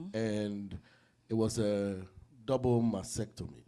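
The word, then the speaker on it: mastectomy: it was a double masectomy right Y which if I was break mactom M momy mhm m is M told me the t is a little silent okay so that's what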